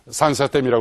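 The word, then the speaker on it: 三峡大坝: 우리말로 삼협댐이라고 불러야 되는데 거기 발음으로 산사댐이라고 그러잖아요.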